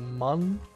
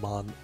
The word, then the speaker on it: Mun: Mun, actually, here it's called Mun, like M-U-N, so should be pronounced Mun, I guess.